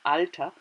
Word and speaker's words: Alter: The same word, alter, we call it, we pronounce it alter, means in German age.